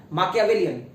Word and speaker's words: Machiavellian: अब इसको बोलोगे तो अगर एग्जैक्ट प्रोनाउंसिएशन पे जाओगे तो उसको बोला जाएगा माकियावेलियन, तो माकियावेलियन, CHIAVELLIAN, माँ की VELLIAN, माकियावेलियन।